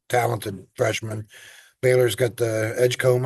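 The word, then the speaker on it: Edgecombe: freshman Baylor's got the Edgecomb I believe is how you pronounce it uh um pretty highly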